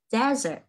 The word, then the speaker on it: desert: Một cái là trọng âm là giống như thứ hai là dessert. Cái kia là sa mạc là desert.